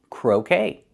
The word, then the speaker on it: croquet: Pronunciation, make the long O like no and go, crow, and then K, like okay, croquet.